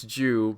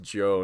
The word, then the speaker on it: Joe: I've been saying hey, it's Jew, but she corrected me by adding something under her name that says pronounced Joe, not Jew.